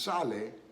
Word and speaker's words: sale: word in spanish saline s-a-l-e is pronounced sale why does it sound that way because simply because the a s-a-l-e the a is pronounced ah so you've got side and then the last e which is not pronounced in english is pronounced in spanish always pronounced in spanish so the last e